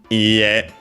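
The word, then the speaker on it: いいえ: Ie, accented on the last syllable.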